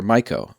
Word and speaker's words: Myco: Yes, Myco is pronounced Myco, and it's from a bacteria called Mycoplasma. And Gnorp is indeed pronounced Gnorp.